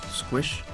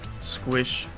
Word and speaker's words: sqsh: tacbox terminal we will use the command squish okay i did pronounce it pronounce squish who use swish squishy squish swish squish an interactive sound base